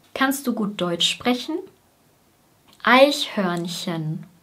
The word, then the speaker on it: Eichhörnchen: Eichhörnchen. Das EI wird wie ein Ei ausgesprochen. Ei, Ei.